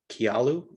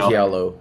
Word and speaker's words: Kialo: Thinking about contacting the creator of Kialu, I think, is that how you pronounce it? That I'm not sure. Someone mentioned that in the We call it Yeah. Kialo. Kialo? Okay. Kialo.